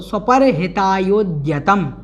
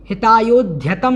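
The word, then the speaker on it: स्वपरहितायोद्यतम्: और आगे देखें तो स्वपर हितायोद्यतम, हितायोध्यतम नहीं है, या कुछ लोग इसका उच्चारण इस प्रकार से कर देते हैं ध्यतम, ध्यतम नहीं है, स्वपर हितायोद्यतम और फिर जन्म, इस प्रकार से इसका उच्चारण बनता है।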